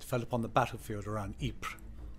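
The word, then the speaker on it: Ypres: upon the battlefield around ipra or wipers as the Tommy's mispronounced and knew it the smell of death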